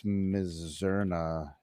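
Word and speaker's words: Mizzurna: Is it Isuna or Mizuna Falls? I can't remember. It's one of those. I'm want to say say it right for anyone who doesn't know. I think it's Mizerna.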